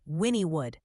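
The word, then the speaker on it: Wynnewood: pronouncing that like the locals right is it Winwood or Winnwood or what is it ah you're close it's actually pronounced Winnwood and if there's a tornado warning there folks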